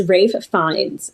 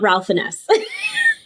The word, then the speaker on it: Ralph Fiennes: Yes, it's Ralph Fiennes. The video that I watched. Spelled Ralph. Yeah, no, it's not Ralph Finesse.